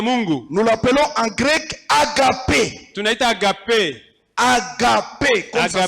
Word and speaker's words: agape: Nous l'appelons en grec agape. Tunaita agape. Agape, comme ça se Agape. Mpaka prononce.